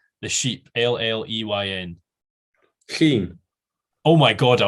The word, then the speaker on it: Lleyn: So the E is silent. So it's, you miss the E and then it's YN, Sheen. Double L, E that doesn't matter, and a Y that's kind of half pronounced.